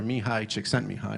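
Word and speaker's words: Csikszentmihalyi: that because at the University of Chicago doctor me hide checks sent me high which is how you spell that mouthful of a name at the bottom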